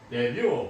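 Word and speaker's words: début: 여기에서 데뷔, 불에서 온 말인데 불은 끝에 자음을 발음하지 않습니다. 이 T는 묵음이 되고 출시, 개시 우리가 어떤 뭐 연예계에 데뷔한다, 연예계에 이제 처음에 나간다 뭐 이런 뜻이 됩니다.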